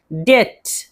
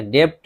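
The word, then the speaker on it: debt: डेट, डेट, इसमें बी है लेकिन बी को नहीं पढ़ेंगे, डेप्ट नहीं पढ़ेंगे, डेट, कर्ज।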